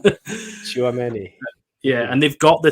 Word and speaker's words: Tchouaméni: Tchouaméni, is that right? Yeah, that's right. Probably said that wrong. Tchouaméni.